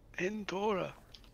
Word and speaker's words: Endora: Endora. How do you spell that? Two R's? No, one R. Endora. Endora. Like Endor the planet, but with an A.